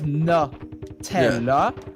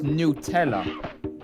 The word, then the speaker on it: Nutella: Because in British pronunciation, it's Nutella. Yep. But in American, it's Nutella. Oh, interesting.